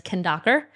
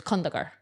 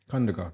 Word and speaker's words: Khandaker: So my last name, it's pronounced two different ways based off of my experience and the way that I was raised.